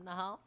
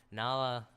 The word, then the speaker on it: Nahla: Now, I think this is a smart decision from Nahal. Is that Nahla? God, I keep getting their name wrong. Nahla, to go aggro against an anti-mage, and they don't really want to have a tri-lane against Undying.